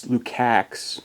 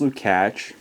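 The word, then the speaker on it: Lukács: Lukak, but it's pronounced Lukatch.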